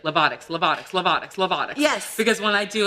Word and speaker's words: Lovato: We have to also talk about very important people in your life, like and I want to say it right, Lovato.